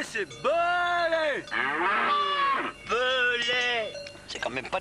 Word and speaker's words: Belay: C'est pas meulé, c'est belé.